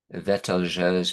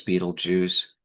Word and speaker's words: Betelgeuse: Rigel, Aldebaran, Betelgeuse, Betelgeuse, Betelgeuse, three pronunciations, common pronunciations of this huge uh, red giant, larger